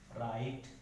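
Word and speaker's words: write: है किसी वर्ड में, अगर डब्ल्यू किसी भी वर्ड में आर के पहले आता है तो जो वो है डब्ल्यू है वो क्या हो जाएगा साइलेंट हो जाएगा। जैसे रॉन्ग, राइट, रैप, ठीक है।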